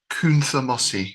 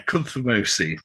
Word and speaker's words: Cunthamaosi: So it is spelt Cunthamaosi. Now, in polite company, I would pronounce that Kunthamosi. Yeah, Kunthamosi.